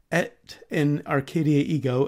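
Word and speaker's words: Et in Arcadia ego: the Nicolas Poussin painting at in Arcadia ego and I have checked multiple sources that actually is the correct pronunciation also known as the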